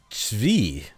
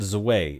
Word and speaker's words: Zwei: Hybris says, here, try Bismarck Zvi. So I have been pronouncing it wrong. So it's not Zwei. It's Bismarck Zvi.